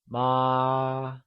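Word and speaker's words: 妈: the correct answer is ma did you get that right ma great so remember mother which translates to ma is said with a constant high level tone also known as the first tone how do we say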